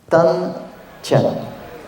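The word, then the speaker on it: 丹田: chinois mais en vérité ça se prononce tan comme entre le D et le T et ti c'est comm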